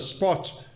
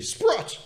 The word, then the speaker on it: Sprott: have here on the spot spot sprot say it correctly Sprott say it with an R South Africans are not